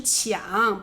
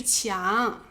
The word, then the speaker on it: 强: 正对方，这是抢，不是强。